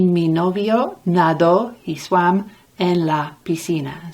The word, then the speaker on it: nadó: And when he swam, él nadó. And the stress of the word is on the last syllable.